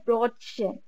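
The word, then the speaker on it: Brötchen: টাইপের ব্রেড গুলো হয় ওইটার নাম হইলো গিয়ে ব্রটসে তার উচ্চারণ হইলো গিয়ে বি আর উমলাউড ও টি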